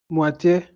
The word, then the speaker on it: moitié: Now, why is it A at the end pronounced, Michael? Explain to us. Why is it has? It has acute accent. It has acute accent on it. So that I say moitié.